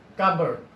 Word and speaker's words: cupboard: cardboard P is not promise clearly the frenetic pronunciation will be cupboard we see also some confused words the whose